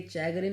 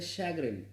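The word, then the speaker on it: chagrin: अगला वर्ड है शैग्रिन। देखिए चैग्रिन नहीं बोलना है इसे आपको, इसे बोलना है शैग्रिन।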